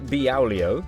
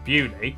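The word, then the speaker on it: Beaulieu: Starting in Biaulio, Bewley, head over to Rampisham, Ransom, then down to Mousehole.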